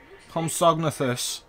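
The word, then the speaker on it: Compsognathus: Homsognathus.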